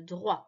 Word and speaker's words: droit: le droit ici le droit le t il est muet tu ne prononce pas le droit à l'eau